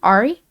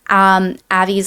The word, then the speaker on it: Avi: Am I saying his name wrong? Ari? I believe it's Ari. Avi. No, Avi, you're right.